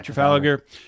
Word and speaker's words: Trafalgar: Yeah, Trafalgar.